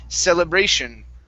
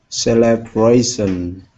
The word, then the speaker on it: celebration: C ation right here celebration celebration okay now the ending of that word has a Tio n here we want to pronounce an sh sound so the Tio n